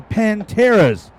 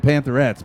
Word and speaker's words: Panteras: It's a Heritage High School marching band, and the Panteras doing their thing. That's right, the Panteras. I said it right finally. I usually call them Pantherettes, but the Panteras.